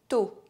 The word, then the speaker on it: tôt: The letter O is always pronounced O when it has a circumflex accent. You know, the little hat on top of it. Tôt. Bientôt. The letters A, U are always pronounced O.